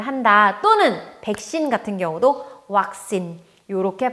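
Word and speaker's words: วัคซีน: 태국어에서 이제 영어의 V 발음을 태국어에서는 전부 다 요 워웬으로 치환을 해서 나타내줘요.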